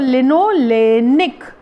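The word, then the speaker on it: linolenic: लिनोलिक acid, LINOLEIC, लिनोलिक LIC लिक acid, और लिनोलेनिक ई के बाद N और आएगा, लिनोलेनिक एसिड।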